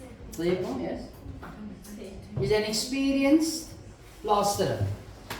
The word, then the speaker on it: Tlepo: Tlepo, yes, is an experienced plasterer.